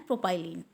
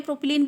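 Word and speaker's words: propylene: और यहाँ पर आपका जो मेजर हाइड्रोकार्बन्स होंगे इस सीरीज़ में वो होंगे इथाइलिन एंड प्रोपाइलिन। इथिलीन भी आप इसको कहते हैं, प्रोपिलीन भी कहते हैं, बट मैं इसको इथाइलिन ही बोलती हूँ, प्रोपाइलिन ही बोलती हूँ।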